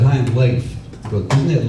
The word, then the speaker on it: Leif: He said, "Hi, I'm Leif." Go, isn't it Leaf? Said, "No, no, it's actually it's pronounced Leif. Rhymes with safe.